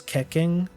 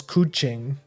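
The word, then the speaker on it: Keqing: Everyone always calls us kekking because like most people are England like for English first language people so they pronounce it like keking like the like the the the Twitch emote but the actual pronunciation for for that character's name is cooing.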